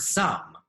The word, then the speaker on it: some: This is the word some. What's the word? That's right, some. Some is unfair because the E should make the O say its own name, but the word isn't some, it's some.